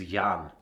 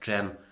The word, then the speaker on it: Jan: literally my opponent's name my name in case you were wondering is yond which a lot of mean bullies asked me lol why do you have a girl's name cuz I think it's pronounced Jen that in my neck